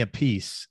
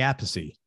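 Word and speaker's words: Appice: in a band with vinnie apathy or vinnie a piece no it's vinnie apathy yeah right yeah because he told me that karma they all pronounce it differently uh vinnie apathy uh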